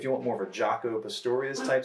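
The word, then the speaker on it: Jaco Pastorius: will say if you want more of a jocko pistorius type sound jaco is a really famous bass player check them out if you're interested in bass look up jocko pistorius that's j-a-c-o jocko pistorius p-a-s-t-o-r-i-o-u-s that's hard that's kind of hard to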